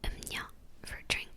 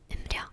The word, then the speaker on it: 음료: Like when I always get confused with is 음료, it's supposed to be "음뇨", but I say 음료 because that's how it's written.